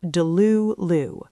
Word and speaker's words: delulu: Number 4, Delulu, pronounced Delulu.